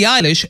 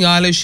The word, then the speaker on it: Eilish: by storm but understanding eilish is more than simply knowing that her middle name which he uses as a stage surname is pronounced like eyelash with alish this young